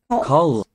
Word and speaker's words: kald: Og kald. Cold. Don't pronounce the D at the end.